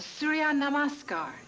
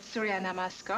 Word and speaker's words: Surya Namaskar: It's called Surya Namaskar. And Surya in Sanskrit means sun. Namaskar is sun salutation. Namaskar means salutation. Okay, pronounce it with me, will you?